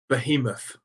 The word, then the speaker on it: Behemoth: Behemoth.